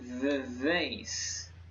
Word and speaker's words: Vivace: It's called the Vivace. Yes, that is how you pronounce it.